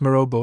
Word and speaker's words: Mirabeau: at the Hotel Mirabeau, pronounced Mirabeau in French, in the Rue de l'Épée, at Paris.